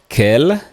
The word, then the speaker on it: quel: and by the way the pronunciation for all of them is the same Kell Kell Kell Kell all of them sound the same but in writing the